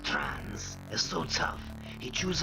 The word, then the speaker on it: Trans: gotten the exits and tunnels is gross trance pronounced trance is so tough it